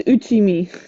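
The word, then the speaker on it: 打ち身: Sorry, it's pronounced as uchchimi. I did it backwards.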